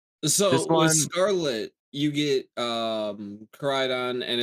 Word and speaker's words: Koraidon: How do you pronounce it again, Dan? Koraidon.